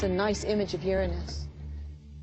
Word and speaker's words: Uranus: the planet's name Uranus which is very likely closer to the original pronunciation of the name of the God after it was named if you think Uranus is a funny name